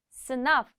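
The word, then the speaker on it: sınav: 스나프. 끝에 v 발음 확실하게 해주는 거 잊지 마시고요.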